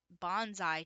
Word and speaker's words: bonsai: Bonsai tree. I mispronounced that in a video a few videos ago. It's a bonsai.